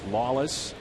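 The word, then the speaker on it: Lollis: Ryan Lawless spelled l l l i s pronounced Lawless would it surprise you that Michael WM has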